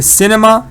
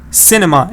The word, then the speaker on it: cinema: is open yes good C Cinema stress is on C you can never say Cinema then it changes stress is theirs it's not